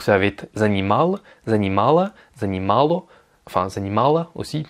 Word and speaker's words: занимало: Donc ça va être занимал, занимала, занимало, enfin занимала aussi, parce que le O se prononce comme un A, et занимали.